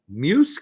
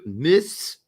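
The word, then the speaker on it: Meiwes: And then more recently, the Armin Muse case in Germany. The Armin Miss is how you pronounce it in German.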